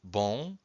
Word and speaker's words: bom: In fact, every time you have a syllable that ends with a vowel and a M or a vowel and